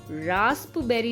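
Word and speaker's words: raspberry: psychology में पी तो है पर साइलेंट है, निमोनिया में भी पी है लेकिन साइलेंट है, रास्पबेरी में रास्पबेरी नहीं पढ़ेंगे, रास्पबेरी पढ़ेंगे, सूडोपोडिया में भी पी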